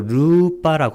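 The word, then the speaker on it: rūpa: 이 물질을 빨래로 루빠라고 합니다. 이것은 장음으로 발음하라는 얘기입니다.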